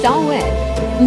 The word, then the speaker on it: Samhain: The festival of Samhain, pronounced Samhain, marked the end of the harvest and the start of winter.